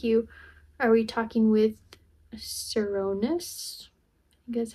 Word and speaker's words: Cernunnos: Artemis no thank you are we talking with serus that's how you say it the Celtic god